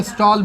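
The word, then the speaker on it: Stahl: यह लिखता है कहीं कहीं हम लोग देखेंगे स्टॉल भी लिख दिया होता है क्या लिख दिया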